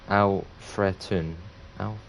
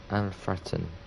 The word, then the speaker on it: Alfreton: Oh, it's pronounced Alfretun. Alfretun.